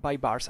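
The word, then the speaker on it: Baybars: Bybar will recur in here. Bybars, actually, it's pronounced.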